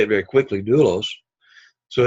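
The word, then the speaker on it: δοῦλος: Then you have doulos. Here, the syllable has the circumflex, which means it rises in pitch and comes down, doulos, doulos, kind of like that, only you don't really hear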